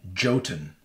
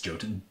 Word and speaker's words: Jotun: It's like Jotun. Oh, I okay. think. I was like, that doesn't seem very... I think his name is Jotun. If I'm pronouncing it right, it's Jotun.